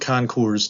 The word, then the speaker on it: Concours: And indeed, many of the current Concours d'Elegance, see, you can use the S there because it's a plural, have taken the shape